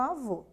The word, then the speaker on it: avô: Se a sílaba tônica é fechada, temos o acento circunflexo, por exemplo, na palavra avô. Né?